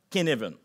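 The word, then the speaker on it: Cynefin: le modèle de kinevenen ça s'écrit cinefin mais ça se prononce kinevenen ok c'est un nom danois si je me souviens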